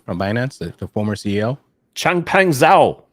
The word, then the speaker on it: Changpeng Zhao: Changpeng Zhao. Changpeng Zhao.